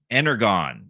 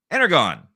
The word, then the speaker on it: Energon: It's pronounced like a John.